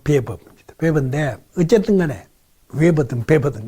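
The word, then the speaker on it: Weber: 원래 웨버, 우리가 이제 우리나라에서 웨버라고 많이 이야기를 하는데, 발음을. 독일식으로 발음은 베버입니다.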